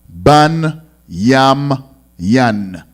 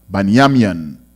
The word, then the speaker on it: Benjamin: So Benjamin, and is pronounced in the ancient Hebrew Ban Yam Yan. Ban Yam Yan.